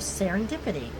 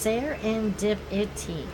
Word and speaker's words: serendipity: It was a pure case of serendipity." "Serenwoozy?" "Serenwoozy whipsidy?" said Scout Sister. "Definition, please." "Fred," said the Professor. "Serendipity," said Fred. "Pronounced sare-en-dip-it-y.